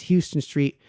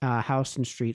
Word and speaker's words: Houston Street: I know people, when they first go to New York, think it's Houston Street. The locals there pronounce it Houston Street.